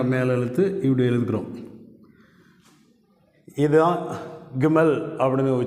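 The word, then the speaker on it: גימל: அடுத்த எழுத்து கிமல் அப்படின்னு உச்சரிக்கிறோம்.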